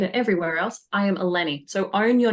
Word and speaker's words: Ellene: e l n e that's how you spell it it's pronounced alenny you can call her